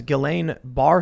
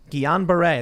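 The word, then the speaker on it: Guillain-Barré: diagnosed with an obscure neurological disease known as gelane bar syndrome is that you pronounce it guillain-barre there you go you see he can't pronounce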